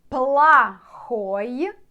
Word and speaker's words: плохой: Плохой and хороший. So you can see плохой, плохой. You have to write here O after L, but pronounce as A.